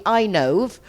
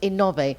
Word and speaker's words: Inove: In English, that would be Inove, but in Spanish, it's pronounced Inove, and it's renewable energy, right, David?